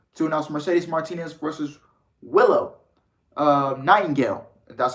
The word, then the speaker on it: Willow Nightingale: New Ring of Honor owning Tony Khan took to Twitter yesterday evening to announce Mercedes Martinez versus Willow Nightingale. That's how you pronounce it.